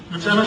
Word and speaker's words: Lieutenant: his friend and boss, Lieutenant, I use the American pronunciation, Lieutenant General Arthur Trudeau, was given the task of doing something with it.